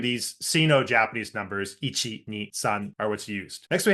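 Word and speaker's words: さん: First, we have the Sino-Japanese word for three, which is san, and this is actually still how it's pronounced in Mandarin as well.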